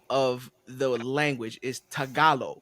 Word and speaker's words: Tagalog: of the language is tagalo right yep you got it okay but it's it's spelled t a g a l o g correct yep so it's Tagalog but it's pronounced tagalo yeah yeah I mean